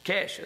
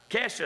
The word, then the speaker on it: Kesha: It looks like Keisha, but ain't how it's pronounced. It's Kesha, is that right? Somebody help. Anybody know that? Is that right? Kesha, is that right?